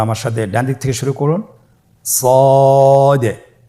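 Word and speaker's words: ص: শুরুতে আমরা শুরু করছি সদ সদ হরফটি পুর হরফ মোটা হরফ উচ্চারণ ক্ষেত্রে মোটা করে পড়তে হবে এবং উচ্চারণ করার সময়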